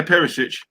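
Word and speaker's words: Perišić: Yeah, Perisic.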